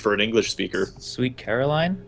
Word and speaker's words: Caroline: It's Caroline. Caroline. It's like you're putting emphasis on like the wrong part of the word for an English speaker. Sweet Caroline?